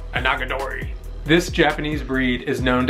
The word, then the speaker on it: Onagadori: Onagadori.